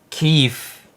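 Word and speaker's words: Kyiv: Keefe. Okay. The proper pronunciation and spelling is K Y I V.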